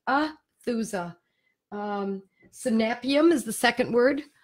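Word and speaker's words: Aethusa: It's spelled A-E-T-H-U-S-A, Athusa. The E is silent, Athusa.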